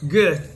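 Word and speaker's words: Goethe: He says, Geth declared, and how do you pronounce that guy's name? Gut.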